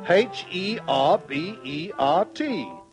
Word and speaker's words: Herbert: and after wheezing twice he said my name's berbert me lad berbert said Conrad the duxon berbert how do you spell that and berbert wheezed and said why berbert h e r b e r te berbert but Dutch tells Herbert said little Conrad